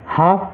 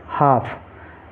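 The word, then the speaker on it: half: ठीक है अब देखिए एच ए एल एफ यहां पर एल से पहले ए है और बाद में ए है तो यहां पर भी एल साइलेंट रहेगा तो इस इसको हम हाफ पढ़ेंगे क्या पढ़ेंगे हाफ ऐसे ही डब्लू ए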